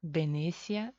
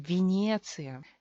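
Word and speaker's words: Венеция: Sílaba tónica, se queda Y. Nadie puede cambiar Y porque es tónica, tiene acento. Venecia. Y cuando Y no es tónica, se convierte en I.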